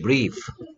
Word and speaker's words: brief: 그 다음에 얘는 그렇지, brief. Brief. 오, 민철이 읽기 능력 대단해. brief. 됐습니까? Brief. IE가 그냥 E 소리만 내버렸습니다.